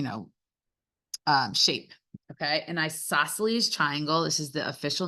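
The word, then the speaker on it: isosceles: joke is which triangle is the coldest an isoceles triangle all right one more ioses it's not how it's spelled okay uh okay and the last joke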